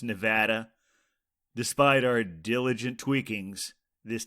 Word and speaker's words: Nevada: seller selection as coming from the state of Nevada when of course it's pronounced Nevada despite our diligent tweakings this technical glitch remained